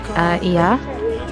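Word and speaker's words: Oia: We've arrived in Ia, that's how you pronounce it.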